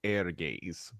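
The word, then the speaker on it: Ehrgeiz: no it would be if it's a Japanese tell be air gaze but okay well but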